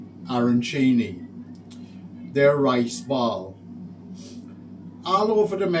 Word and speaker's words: arancini: a starters, and these are, I think they're pronounced arancini.